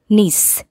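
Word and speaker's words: gneiss: হয়ে থাকে এন্ড দ্যা last of দা list নিস নিস খুব ইম্পর্টেন্ট একটা মেটামরফিক রক এর উচ্চারণ কিন্তু হয় না নিস উচ্চারণ হয় কম্পোজিশনটা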